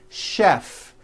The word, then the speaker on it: chef: are a couple of words that are spelled with ch and are also pronounced with the SH sound words like chef and the city of Chicago okay having said that